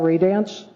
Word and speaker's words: Radiance: your name uh 371 Paul Ray dance I phonetically spelled it for you there oh got Ray